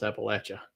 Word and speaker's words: Appalachia: So that's how you pronounce Appalachia.